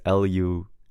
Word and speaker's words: LUXID: So I used LUXID because I wanted to be edgy. But then I told you guys, apparently it's pronounced Luxid.